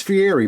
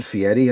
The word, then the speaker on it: Fieri: And it is Fiery, by the way. I said Fiieti, I think, in my video.